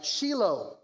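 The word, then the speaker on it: Shiloh: Uh Shilo is the correct pronunciation. I learned it's a shilo. You you emphasize the low.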